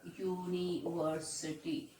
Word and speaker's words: university: is teaching in a university so children university the sound is starting with a woven view but the pronunciation is you need you me so that's why the sound is starting with y so that's why we